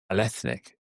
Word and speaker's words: Ballethnic: We were chatting just before we went live, and we talked about the pronunciation, Ballethnic, and correct. That's a merger of two words, isn't it? Ballet and ethnicity or ethnic.